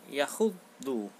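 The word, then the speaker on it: يحض: Perhatikan kata 3 dan 4. Yakhuddu ya, double bacanya.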